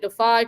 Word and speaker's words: Defy: we be talking about, but they're calling it Defy Credit Union.